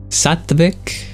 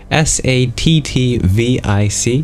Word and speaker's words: sattvic: Yogic, Sattvic, Sattvic, Sattvic, or Ayurvedic is also another synonym for that.